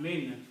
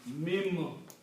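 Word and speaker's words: من: So this will be pronounced as not min, mim.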